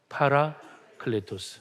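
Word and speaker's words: παράκλητος: 뭐라고 읽죠? 성령 또 다 잊어버렸죠? 보여 주세요. 성령은요. 파라클레토스입니다. 시작. 파라클레토스.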